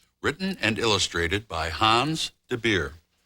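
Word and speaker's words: de Beer: The story I brought today is called The Little Polar Bear, written and illustrated by Hans Debeir. Rhymes with root beer.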